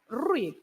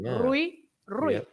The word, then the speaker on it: Rui: Then we have the diphthong ui, the ui, ui, like in the name Rui, right? Rui.